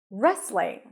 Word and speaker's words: wrestling: a fan of wrestling you start with an R sound there is no W here okay just an r and then an a sound re re rest you also don't hear the T so it's just restling restling wrestling wrestling and